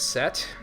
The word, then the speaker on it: Seth: than that so there's set I think that's how you pronounce it anyway it's like Egyptian myth you don't pronounce the H you pronounce the T like a hard T so yeah yeah alice